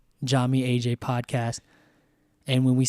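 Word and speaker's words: Yami: as everyone will know is spelled with a Y but it's pronounced with a J and so Jami is spelled y a m i so Jami then you have AJ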